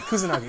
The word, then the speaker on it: Kusanagi: And in this production, the lead character of Major Kusanagi, am I pronouncing that right? I don't want to. Yeah, Kusanagi.